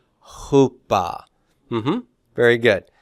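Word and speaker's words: ὑπό: one that's a p so who it's not OA not OA but Hoopa Hoopa mhm very good how about this one how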